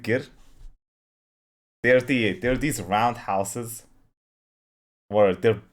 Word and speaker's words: ger: Oh, he said gers. We pronounce it gir.